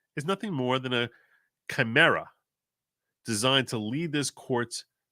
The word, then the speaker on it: chimera: And it's pronounced chimera. Chimera. Chimera. That's chimera. Chimera.